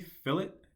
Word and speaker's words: fillet: good practice to create fillets fillets are very common once again fill it to our rounds make sure you pronounce it correctly fill it not fillet right it's filling all right